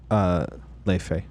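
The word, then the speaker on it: Laufey: And then the Icelandic singer-songwriter Lofi, how do you pronounce her name? Leife.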